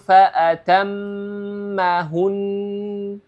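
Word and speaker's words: فَأَتَمَّهُنَّ: panjangnya dua harakat jadi cara membacanya adalah faatammahun faatammahun ya Jadi dua harakat ya jadi bikalimatin faatammahun ya Jadi dipanjangkan dua harakat dengan gunah tib kita lanjut ke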